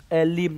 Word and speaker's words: ellim: series chơi con ngạc Elim này. Ui giời, E-L-L-I-M thì đọc là Elim đi.